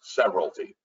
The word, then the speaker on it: severalty: So when you take property as a sole individual, it is called severalty. That's how it's pronounced, severalty, all right?